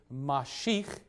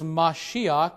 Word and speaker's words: Mashiach: And the reason why it's pronounced Mashiach and not simply Mashich is that in Hebrew, that final letter, chet, along with other similar letters, prefer the ah sound, and so you get